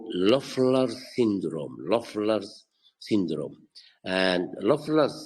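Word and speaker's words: Löffler: can aggravate the syndrome and this is called lers syndrome lers syndrome and lers syndrome is spelled l o and the O has two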